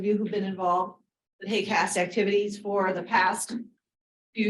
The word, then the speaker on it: HAQAST: this acronym h-a-q-a-s-t uh we pronounce it hey cast um and uh you'll